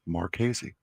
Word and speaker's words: Marchese: It's not Marks with a Z. It's MARKZ, how you would pronounce my last name, Marchese.